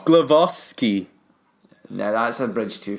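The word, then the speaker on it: Głowacki: well he's also saying our pronunciation of Glowacki is wrong it's also blue glove off ski now that's a bridge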